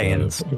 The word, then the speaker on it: Saiyan: Super Saiyans, Dragon Ball Z.